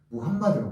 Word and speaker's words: 무함마드: 근데 마호메트는 프랑스식 발음이고 무함마드가 맞거든요. 사실은.